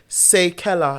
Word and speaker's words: Seikella: So it's actually Seikella, like say and Kella in the name.